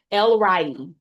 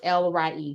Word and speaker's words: El Roi: It's the God who sees me and the name is pronounced Lry and that's E L R O I but it's L re cuz I looked at the pronunciation they got on page 14.